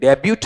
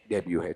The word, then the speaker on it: debut: हैं, देखो DEBUT, और इसमें टी क्या हो जाता है, साइलेंट हो जाता है। तो ये डेब्यूट है या फिर डेब्यू है, डेब्यू है, ठीक है।